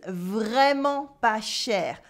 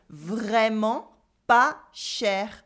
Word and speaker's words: vraiment pas cher: With luck, you will find that what you wanted to buy is vraiment pas cher. Really not expensive at all. Vraiment pas cher. Repeat after me. Vraiment pas cher. Yes, the T is silent.